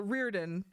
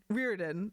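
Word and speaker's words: Riordan: know how to or rearin rearin I'm going to I sorry I've been pronouncing it the other way like my whole life and now I realized I'm wrong and now I'm I'm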